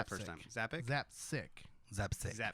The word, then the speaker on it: Zapcic: Zappic. Mike who? Zappic? Zapzik. That's what I said the first time. Zappic? Zapsic.